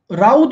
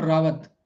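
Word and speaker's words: Raut: क्या बोलूं, राउत बोलूं क्या, राउत? Is that pronunciation correct? राउत। Okay, it's नॉट रावत, right?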